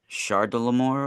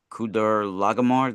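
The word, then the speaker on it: Chedorlaomer: yeah, that's a foreign name and pronounced as a K, sometimes spelt with a K in other transliterations, but a CH can be pronounced as a ha sound, depending Okay.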